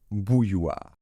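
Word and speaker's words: bouilloire: d'accord bouilloir alors làppeil le début ne pose pas vraiment de difficulté puisque c'est Bou comme le ou le son ou comme BO en anglais donc Bou d'accord hein c'est un son court hein par contre Bou et après on a ce même son ye d'accord Bou yir et ce o suivi du I ça fait son ou comme si c'était un ou suivi d'un a et vous allez très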